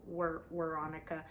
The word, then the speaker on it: Weronica: It's like spelled like Veronica, but it's with a W. So Weronica. I mean, if we're German, we would say Veronica because they say the W is like a V.